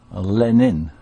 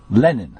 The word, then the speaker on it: Lenin: you say um um the way you say Lenin it sounds like John lenon what am I supposed to say well I don't know but I I call him it's Vladimir ilich Lenin Lenin okay okay I'm going